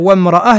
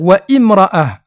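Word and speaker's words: وامرأة: Au lieu de dire wamra'ah, il va dire wa imra'ah.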